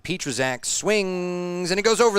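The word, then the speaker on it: Pietrzak: season good contact and finally we have a correct way to say his name petrazak I've never said his name right all year long p-i-e-t-r-z-a-k and Petra's act swings and he goes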